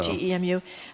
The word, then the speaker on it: Temu: Well, the person that texted about how do you pronounce that, Temu? I don't know. TEMU website. How do you says pronounce it, Jamie?